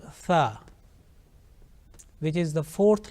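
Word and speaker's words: ث: fourth letter of alphabet to pronounce this letter correctly it is important that we touch the tip of our tongue softly to the edges of our top two teeth front two teeth like you see the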